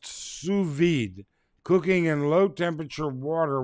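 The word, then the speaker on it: sous vide: it in my notes Hector's got it pronounced suid cooking in low temperature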